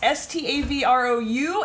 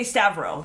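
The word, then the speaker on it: Stavrou: name was s-t-a-v-r-o-u and the u is style silent i would have pronounced it when i read it in my head like on facebook and stuff i say stavro that's that's how i would have pronounced that so i think i'm saying that right stavro now you made it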